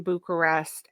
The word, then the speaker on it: Bucharest: been actually the first American film filmed in Bucharest. Yes. Did I pronounce that right?